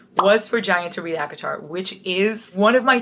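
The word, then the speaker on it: ACOTAR: thought I was reading aatar you are no that's a court of thorns and Roses AAR you don't pronounce the A and the a in AC PRS it would be CTR no CTR no aatar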